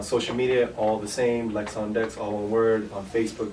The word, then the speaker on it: Lex on Dex: It's like my name is Lex. I'm like on a DJ Dex. That's the point. Okay. And then on social media, all the same, Lex on Dex, all one word, on Facebook, Twitter, Instagram, SoundCloud, YouTube.